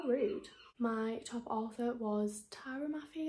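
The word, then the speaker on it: Tahereh Mafi: my top author was Tara Mafi I think is how you pronounce it the author of the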